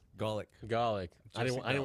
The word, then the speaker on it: Gawlik: Gawlik.